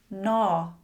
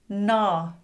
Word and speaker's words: gnaw: Gnaw. Gnaw. Gnat. Gnat." You can see "G" is often silent before "N" when it starts a word.